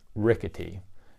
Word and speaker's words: R1CATEE: of workers compensation form known as a rickety it's spelled out form WC - r1 cat ee it stands for catastrophic